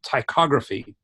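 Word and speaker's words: ptychography: So it's a strange word. Do I have a chat? Is there a chat over here? Yes, there is a chat. So I'm going to spell it out. It's got a silent P.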